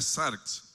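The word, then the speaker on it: σάρξ: traduce aquí como carne es un término griego que se pronuncia zarx y es la misma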